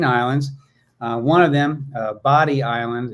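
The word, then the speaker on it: Bodie: one of them a body Island it's spelled like bod um but it sounds like body and that's sort of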